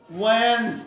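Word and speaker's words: Wednesday: পরে যদি এন থাকে ডির পরে যদি এন থাকে ডি সাইলেন্ট হয় তাহলে এই দেখো এখানে আইপিএ কিন্তু দেওয়া আছে দেখো আইপিএ কি যেমন তাহলে এই দেখো এটা এটা আমরা উচ্চারণ করবো ওয়েন কি উচ্চারণ হবো ওয়েন ডি কিন্তু উচ্চারণ হচ্ছে না কারণ এন এর পরে ডির পরে এন আছে এই জন্য ডি সাইলেন্ট ঠিক আছে তাহলে আমরা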